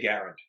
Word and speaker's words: Garand: know Garand or Garand you get to a point where if you say it the right way at least in this country you look silly or pretentious so whenever I say it like like I'll never say garant ever even though it's almost proven dead to rights because it's Canadian word and in French that's probably how it was and it's very American